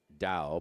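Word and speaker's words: Dou: That's D-O-U, pronounced Dow, but D-O-U at 100-1.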